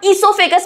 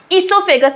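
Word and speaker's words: oesophagus: That is food pipe में जिसे हम इससोफेगस बोलते हैं। स्पेलिंग ध्यान से देख लेना। इससोफेगस। इसमें ओसाइलेंट होता है बच्चों।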